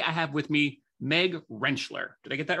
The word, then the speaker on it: Rentschler: Stafford and today I have with me Meg renchler did I get that right you got it perfect renchler yes you gave me a pronunciation guide which grateful every day for that